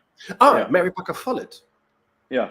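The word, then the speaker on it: Follett: say um is that is that how you pronounce her name I I've only read about her Mary Parker fallet oh Mary Parker fet yeah fall it yeah um yes I'm thinking about if she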